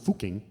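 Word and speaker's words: Fucking: or over here it's pronounced fuking um and it was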